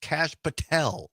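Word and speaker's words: Kash Patel: to two as well Oh Donna says it's pronounced cash Patel yes yes it is I was going to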